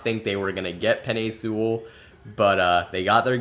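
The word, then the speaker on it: Penei Sewell: I I may have some people pronounce it like peanut like penai Sewell I've heard different pronunciations but penne sewell's the one I've heard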